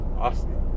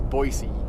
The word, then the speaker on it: Boise: He's like, Bossy. Yeah. All right, that's taking Bossy. too far. Yeah, that's a little too far. But it's Boise, C-B-O-Y, or it's pronounced boy, as in B-O-Y, and C, S-E-E.